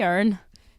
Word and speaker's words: Erin: He wouldn't say Erin, he would say Irn. Irn. So it's very cute, and all my family in Northern Ireland call me that. So they miss out the I in the pronunciation, but yeah, it's super nice.